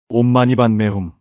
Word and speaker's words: 옴마니반메훔: 온마니반 매훔. 이것은 산스크리트어로 온마니 파드메훔이라고 발음됩니다.